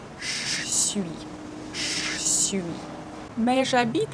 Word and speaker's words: j'habite: We don't say je habite. We say j'habite. We omitted this sound because the next word, the verb habiter, starts with actually a vowel. We don't pronounce H in this verb, so we start this word with A. And when a verb starts with a vowel or H, we need to omit E caduc in je.